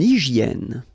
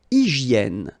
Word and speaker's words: hygiène: Une hygiène. So remember, we've got this Y here, vowel, and it's pronounced like E, okay?